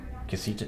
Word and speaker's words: Kasita: Spell that. KASITA. Casita, just like that.